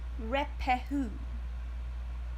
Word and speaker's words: Ruapehu: Mount Ngauruhoe and Mount Ruapehu in Tongariro, this is how you pronounce these things, I promise, National Park, to